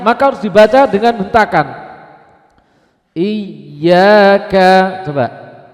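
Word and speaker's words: إِيَّاكَ: harus dibaca dengan hentakan iyaka coba Jangan memanjangkan i-nya tapi y-nya ada hentakan i Nah kalau ada membaca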